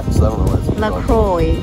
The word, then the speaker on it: LaCroix: know what is it lacroix they said it's supposed to rhyme with enjoy and there's amber and